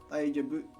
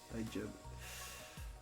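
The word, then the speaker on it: 大丈夫: after that are I daijobu kamawanai. I daijobu kamawanai. Daijobu daijobu. It's not daijobu. It's not daijobu. It's daijobu. Daijobu. Daijobu. Daijobu. So daijobu. It's weird. Pitch accent stuff.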